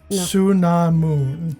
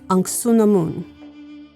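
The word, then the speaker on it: Anck-su-namun: Patricia Velasquez played an uh It's anamoon. Ansunamoon. actually did it phonetically.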